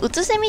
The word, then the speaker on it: 空蝉: 今のノーマルクエスト私からセミって呼んでたんですけど空蝉って読むらしいですね意味はこの